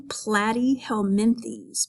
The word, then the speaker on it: Platyhelminthes: You pronounce the Latin name Platyhelminthes, but that means flatworms.